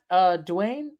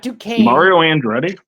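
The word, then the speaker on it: Duchene: Matt Dwayne. Sorry, cannot pronounce people's names. Matt and Dwayne. Who are you talking about? Matt Duquesne? I'm sorry, Matt Duquesne.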